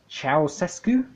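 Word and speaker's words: Ceaușescu: for this guy again I think it's pronounced cows escu then she mentions Christianity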